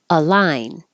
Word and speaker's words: align: x cubed circumference circumference align and this single word does sound the same as the two words Al line pivot pivot Lane as